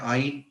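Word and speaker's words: yne: double bond ई से start होता है, ट्रिपल बॉन्ड वाई से पर प्रोनाउंस करते हैं आई की तरह, आइन, तो ई पहले आता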